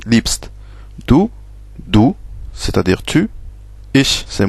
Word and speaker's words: liebst: Sauf qu'en allemand, on le prononce liebst.